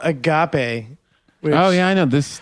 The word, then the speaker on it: agape: a religion yeah well it's a Greek word it's one of the five words for love okay the Greek language I'm not gonna join dude Agape is how you say it but um so